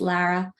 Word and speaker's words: Lara: Usually people call me Laura also, but it's Lara.